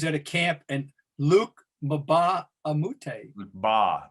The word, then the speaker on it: Mbah a Moute: a camp, and Luc Mbah a Moute. The M is silent. Mbah a Moute.